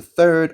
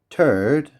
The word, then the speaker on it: third: If you didn't know how to say this th you would just say you would say this in you would say this instead turd I okay you know